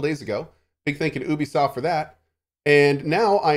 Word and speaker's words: Ubisoft: with that and oh it's ub soft i'm sorry i forgot they don't pronounce their company name properly i'm just kidding uh ub soft that's right they pronounce it with a u okay ubisoft um today is going